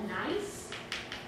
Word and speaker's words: gneiss: And then the rock that we're going to see is called a gneiss. So it has a very funny spelling. It is pronounced nice, so it sounds like N-I-C-E.